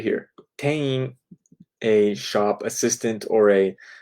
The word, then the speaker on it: 店員: It is spelled ten-in. However, in Japanese, many times I have noticed that when you have a single and then a vowel like I, you don't really close your mouth.